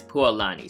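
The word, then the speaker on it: Pualani: So the correct way to pronounce the the girl the pretty much the lady on the tail the real pronunciation is poani.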